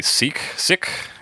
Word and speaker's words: Sikh: So British people pronounce it Sikh. What about you Americans? Also Sikh.